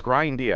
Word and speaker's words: Grindia: It's Grindia. I've got the name wrong almost every time. Until yesterday when we found out it's about grind.